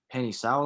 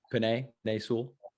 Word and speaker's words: Penei Sewell: that's like probably going like top 5 is Penny Sewell, I believe is how you say his name, from Oregon. Penei Sewell.